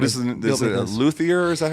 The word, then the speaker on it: luthier: Is it a luthier? Is that how you say it? Yeah, he's a luthier.